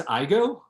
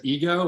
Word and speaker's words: Igoe: they're not wrong that no one ever pronounces my last name correctly aaron always said says ego or ego or or it's always wrong and so they'll look